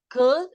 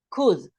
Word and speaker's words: could: don't yeah we don't we say could and we don't pronounce the L the L doesn't appear okay could could you give me